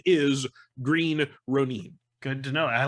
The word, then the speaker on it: Green Ronin: It is Green Ronin. You can argue about how Ronin is argued in the English language, but as a proper noun, the company name is Green Ronin.